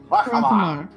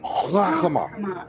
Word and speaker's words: Harkamar: Harkamar. It's called Harkamar. Harkamar. If I have to listen to you say it for the next 6 months, I want to hear you say it right.